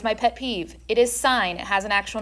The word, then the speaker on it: sine: This is sine. You see what the little arrow is? Do not say sin. That is my pet peeve. It is sine.